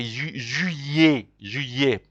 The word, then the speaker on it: juillet: I know July is a bit complicated, because when an I is before two L's in French, you pronounce them like you say, like as if it is a Y. So that's why you say juillet.